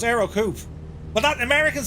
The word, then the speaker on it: Ercoupe: right the Aro coup e is silent so it's Aro coup but that Americans say